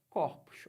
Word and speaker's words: corpos: corpo você vê que esse corpo é o pronuncio assim não é não tem acento circunflexo mas eu falo assim corpo plural corpos olha como é que eu falo Ah mas